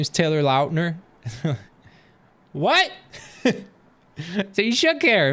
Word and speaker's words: Lautner: his name taylor lautner did you know that that's how you say his name he said it in an interview this year and they were like for years we've been calling you taylor lautner and he's he's like